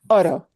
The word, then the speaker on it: Oro: This is the simple roll because it's a single R.